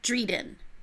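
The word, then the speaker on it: Drieden: dr.i ad en and it rhymes with Sweden okay so it is the royal family of Dryden reading yeah okay and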